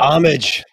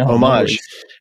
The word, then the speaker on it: homage: that pronunciation catalonia yeah homage there we go i'm putting a faux french spin on it but homage no homage am i getting this